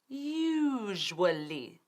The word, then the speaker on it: usually: vamos a aprender bien usually y cómo pronunciarlo, porque eso es importante. Es usually. 3 sílabas. Usually. Y fíjate que no estoy diciendo usually. Usually, como el pronombre you, tú.